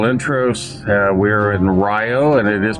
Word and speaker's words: Rio: Uh we are in Rio and it is pronounced Rio, Wisconsin, and it's supposed to have a good meat market.